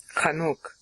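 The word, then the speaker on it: Chanokh: him I mean he's Hanukah comes from his name by the way kanuk is really more how you'd pronounce his name okay he dies um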